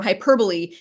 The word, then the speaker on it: hyperbole: Another thing I like, I just remembered, was when on the page for hyperbole, you have a little note about the pronunciation of it, because if you look at that word, it says hyperbole. You think it's right?